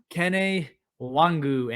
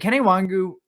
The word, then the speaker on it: Kene Nwangwu: First one on the list, Kene Nwangwu, and yes, it is how you pronounce it.